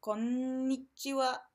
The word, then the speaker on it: konnichiwa: native speaker of English key thing to remember with konnichiwa is that there's an extra in Indian so you need to make sure you pronounce that konnichiwa Aziz but you forgot